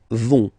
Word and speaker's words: vont: Ils, elles vont. Ils vont. Elles vont. Okay, remember, final T not pronounced, so you get this ON nasal here.